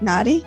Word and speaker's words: Nadi: Q is the founder of the Indian Palm Leaf Reading Institute, which provides Nadi astrology. Did I pronounce that right? Nadi?